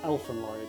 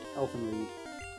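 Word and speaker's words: Elfen Lied: That's Lloyd, like pronounced like lead. Not how you think. Elden Lead. Jay saying Elfen Lloyd. Elfen Lead.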